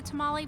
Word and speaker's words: tamal: So, but let's do the I called this a tamale. I know, but for some reason it's called a tamal, T-A-M-A-L. I don't know. I even ordered it the tamale, but then I looked down.